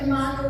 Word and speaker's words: imago: Is it imago? Is that how it's pronounced, Brooke?